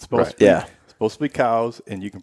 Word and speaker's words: Coues: patently false it's supposed yeah supposed to be cows and you can pronounce it any way you want well there